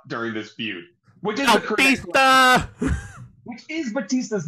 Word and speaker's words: Bautista: Which is Bautista! Which is Batista's name. It is the correct pronunciation of his name, Bautista, just without the U.